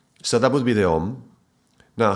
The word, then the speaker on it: Om: Okay, so it's O. It starts with the O. It's not Aum, but Om. Okay, so that would be the Om.